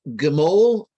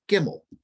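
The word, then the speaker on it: גימל: Now, if we look at the first Hebrew word there, Gimel, it's actually the same letters that spell the Hebrew word Gimmel. It's just pronounced a slightly different way.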